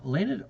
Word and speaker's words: Leonhard: Now, Leonhard Euler was a great mathematician from, what, 400 years ago, one of the most profound individuals.